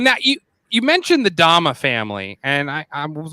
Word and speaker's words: dhamma: the religion it meant teachings so it's parallel pronunciation in Pali is dhamma and so dhamma meant teachings of Buddha and